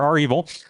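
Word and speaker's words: REvil: involving cyber Command right and you can ask our evil or Revel how we prefer to pronounce it here are evil um how that worked out for them and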